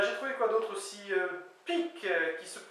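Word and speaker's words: pig: trouvé quoi d'autre aussi pque qui se qui s'écrit P g mais qui se prononce P K qui veut dire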